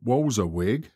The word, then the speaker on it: Walberswick: to the sea between walberswick pronounced walzawig and southwold i was